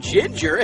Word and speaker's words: ginger: Godfree the goose and ginger has a soft G in her name j j as in ginger in fact she has two soft G's in her name Ginger Ginger what about some